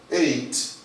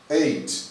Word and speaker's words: ate: Ate. Ate. Tem a mesma pronúncia do número 8 no inglês, ó.